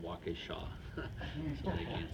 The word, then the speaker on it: Waukesha: I said, it's called Waukesha.